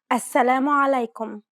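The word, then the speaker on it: السلام عليكم: give it a shot assalamu alaikum did you pronounce this greeting correctly be mindful about the throaty sound this common greeting try again alaikum if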